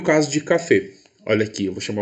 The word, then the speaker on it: café: forte mas ainda assim eu vou pronunciar essa palavra com a vogal fechada então café e foi não vou